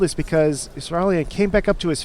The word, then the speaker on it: Israelian: I've been pronouncing it Israelian.